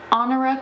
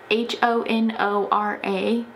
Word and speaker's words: Honora: She was actually born with the name Honora Kelly. I think that's how you pronounce it. It's like H-O-N-O-R-A, like the word honor. So I think the H is silent because you don't say honor, honora.